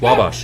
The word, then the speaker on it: Wabash: Wabash, okay. You got it right. Making sure I'm pronouncing that correctly.